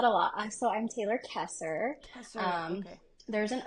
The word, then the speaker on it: Koesser: Koesser. I get Kessler. Like there's an L in there, Okay. which there's not.